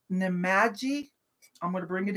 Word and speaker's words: Nemadji: I'm going to say it, spell it for you. N-E-M-A-D-J-I.